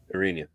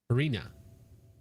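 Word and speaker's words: Iryna: His official Black Lives Matter account justifying the murder of Aana Orina. Is it Sorry, I keep pronouncing it incorrectly. Different ways. Is it Arena? Arena. Arena. Yes. Arena.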